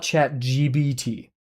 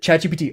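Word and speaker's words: ChatGPT: Why do people call it chat GBT as in beta G like gamma beta towel?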